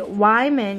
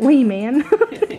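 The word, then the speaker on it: Weiman: The Wyman, y'all taught me the correct way to say that because I was calling it Wee Man.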